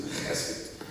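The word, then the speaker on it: חסד: You got to say it like that too, chesed.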